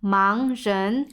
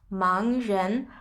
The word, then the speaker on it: 盲人: 盲人, so that's 盲人. Good pronunciation.